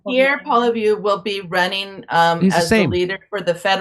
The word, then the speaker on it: Poilievre: Poliver? How do you say his name? Pierre Poilievre will be running He's the as the same.